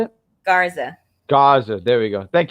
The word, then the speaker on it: Garza: He once again going into Survivor Series, him losing to Gaza. Was it how you say it? Garza.